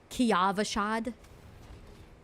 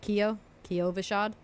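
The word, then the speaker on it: Kyovashad: I called it Kiavashad. And everyone was like, why do you say it like that? And I guess it's because they call it Kiovashad. And I was calling it Kiavashad. And, because it's an A, right?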